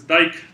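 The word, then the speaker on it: Dyck: learned from david that the proper way to pronounce this is dyke path even though people often call them dick paths so okay so this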